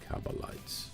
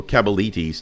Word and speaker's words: Cabalites: Savage band of Jakari cabalites or cabalitis depends on how you pronounce it this one definitely can't